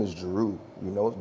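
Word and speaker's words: Jeru: yeah I'm my name is my name is Jaru you know j e r u like spelled like you know um and it's also there's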